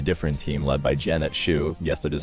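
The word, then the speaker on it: Hsu: Every subsequent game is translated by a different team led by Janet Shu. Yes, that is how you pronounce her last name.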